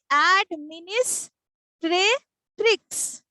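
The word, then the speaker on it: administratrix: উচ্চারণটা কিরকম হবে? অ্যাডমিনিস্ট্রেট্রিক্স।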